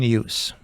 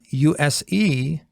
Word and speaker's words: use: we have the word use with two pronunciations when it is a verb we say "Z" like "use" when it is a noun we say "S" like use essential grammar in use unit one.